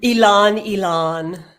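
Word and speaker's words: ylang-ylang: Because please tell me how you pronounce ling. It's ling. Ilan. Ilan.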